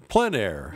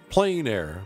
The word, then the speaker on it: plein air: doors or open air the French pronounce it plein air others pronounce it plain air but no matter what